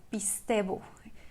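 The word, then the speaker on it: πιστεύω: para la palabra crean, es la palabra pistebo, ¿sí? Es así como se pronuncia, pistebo.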